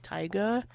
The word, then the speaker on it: taiga: I used to say taiga, which is like, why am I adding an extra A that's not there? So yeah, it's like taiga. It's like saying tiger, but like with an accent.